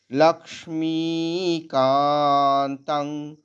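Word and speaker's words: লক্ষ্মীকান্তং: ব্যঞ্জন আছে লাক লাক্স লাক্সমিকান্তাং অনস্বরটা আবার এখানেও উঙ্গ শোনাবে ক বর্গের উঙ্গ কমলা নয়নাই এখানে অনস্বরটা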